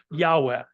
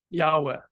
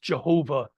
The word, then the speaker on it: Yahweh: as a personal deity Yahweh Yahweh uh used to be pronounced Jehovah but that was a misunderstanding of the text so you know that